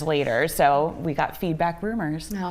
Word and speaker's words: RMRS: It's called feedback rumors. Rumors. And it's spelled it's not spelled out rumors. No. RM RM RS. RS.